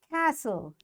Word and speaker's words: castle: Castle, T is silent.